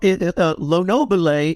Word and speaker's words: Lonobile: And you are doing this collaboration with guitarist and producer Aldo Lonobile. Is that how we say his name? Well, Lonobile, it would be the Italian pronunciation.